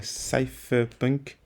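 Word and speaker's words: cypherpunks: forcément connu de tous qu'on appelle aujourd'hui les safe punk ça s'écrit C Y P h e r punks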